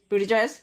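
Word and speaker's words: Buttigieg: I saw the clip but here here's the pronunciation boot Edge Edge boot Edge Edge booty J no boot Edge boed booty anyway did you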